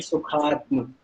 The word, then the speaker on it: सुखात्म: सुखात्म, पूरा सुखात्म नहीं बोलना। तम बोलोगे तब ये जो है आधा ता है यहाँ पे मैम, और अगर आप तम बोलते हो तब फिर वो पूरा प्रोनाउंस करेगा तो पूरा ता होगा। तो यहाँ पे ता जो लेटर है वो आधा है, ठीक है। तो बोलेंगे सुखात्म।